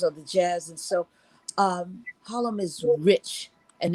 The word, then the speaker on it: Harlem: And of course, you got to put an accent on the HA, right? You got Harlem.